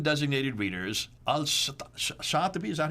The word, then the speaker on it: Al-Shatibi: Al-Shatibi, is that how you pronounce it? Shatibi, yeah.